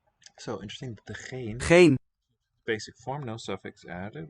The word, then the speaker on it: geen: Note that the final ends in this word and this word are not pronounced, but in this one syllable word, Geen. We. geen, it keeps the n sound.